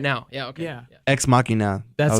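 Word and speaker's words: Ex Machina: another Oh you mean right now yeah okay exmachina that's how you say it and then they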